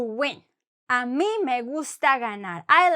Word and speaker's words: ganar: It's like, imagine the word in English, the English word good. No, when you say good. So when you say good, think about the g in Spanish.